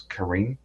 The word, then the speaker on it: Karen: horrific mass murder of the Karen or Karen people I might just call it Karen but I think I might pronounce Karin Karin Karin okay so the